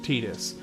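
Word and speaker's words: Tidus: that I know it's officially pronounced Tetus, and I'm okay with being wrong. I think for the English language, Titus is much more is more fitting because of the water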